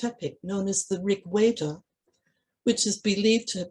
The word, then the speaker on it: Veda: I should mention at this point that the letter V, as written in English and pronounced in English, is normally pronounced as a W in Sanskrit. So for instance, words such as Veda, Deva, and hence Devanagari have their V's pronounced as W's in Sanskrit.